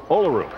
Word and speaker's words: Olaru: now Maria olaru as bellu says our Romanian interpreter says olaru no matter how you say it she's one of the